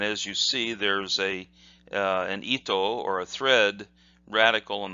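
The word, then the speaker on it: 糸: And that part, if it was just by itself, is pronounced ito and means thread.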